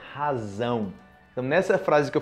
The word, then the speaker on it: razão: Só é lembrar da pronúncia do inglês, ok? Z, o Z, letra Z em inglês. Z, razão, zão, razão.